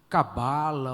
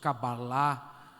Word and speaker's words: Cabalá: todo tipo de misticismo cabala ou corretamente se pronunciando cabalá E tantas outras bobagens